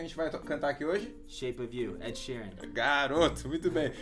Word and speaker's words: Shape of You: Geralmente, como a gente se junta, Shape of You. Não é Shape of You, é Shape of You. Como se fosse uma palavra só. Uma palavra só. Porque alguns alunos meus já falaram Shape of You. Tá certo essa pronúncia? Of You? It's more like of, like a vista, som de V. Of You, Shape of You. Ok. Shape of You. Então a palavra of seria com dois Fs.